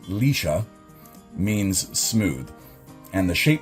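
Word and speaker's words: Liscia: Lischia, or I believe it's pronounced Lisha, means smooth.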